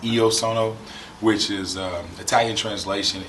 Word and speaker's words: Io sono: clothing brand uh yes uh it looks like i o sono actually i get it uh oh right now